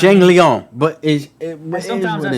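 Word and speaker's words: Jingliang: Like, we know it's not Jingling. But that Lee Jingling is Jingling to us. It's Zhang Liang, but sometimes I say I call him hazmat.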